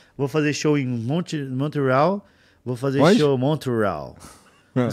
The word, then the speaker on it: Montreal: o que que é Montreal é Montreal Montreal igual se igual se escreve se lê se lê igual escreve É tá eu achei que era em inglês Mont real tá ou pode ser também tá E aí a